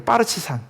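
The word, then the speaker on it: партизан: 근데 그 말이 예 러시아로 옮겨오면서 러시아 발음이요 빠르치산이래요. 빠르치산.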